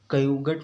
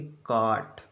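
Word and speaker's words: caught: जैसे लिखा CAUGST, तो इसको क्या पढ़ेंगे? कयुगट नहीं पढ़ेंगे, इसको पढ़ेंगे काट। क्या पढ़ेंगे? काट।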